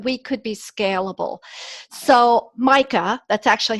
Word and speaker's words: MYCA: place so that we could be scalable so mica that's actually how it's pronounced that's okay it stands for maximizing your company's assets so Micah has been in business for 25 plus years